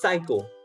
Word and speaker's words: psycho: first word it's psycho so you don't pronounce the p so again you know